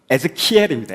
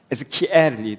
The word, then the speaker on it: Ezekiel: 여기 보면 이름 자체가 이제 한국으로 번역하면 에스겔이라고 되어 있는데, 실제로 영어는 에즈키엘입니다. 에즈키엘. 발음, good.